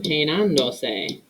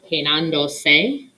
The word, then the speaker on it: peinándose: The reason being, most words in Spanish, the verbal stress falls on the second to last syllable. Peinando. Estamos. What's another example? Prepararse. If a word in Spanish doesn't follow that rule, we need to add a written accent mark. Bueno, peinando, because we're adding another syllable, peinándose.